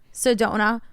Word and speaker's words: Sedona: is that how you say it Sedona yes Sedona we would show a ton a ton of